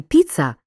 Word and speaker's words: піца: в слові є ненаголошеними так у слові піца наголошений перший склад а от у слові